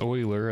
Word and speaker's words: Euler: another one of these project oiler I think it's pronounced oiler I learned that you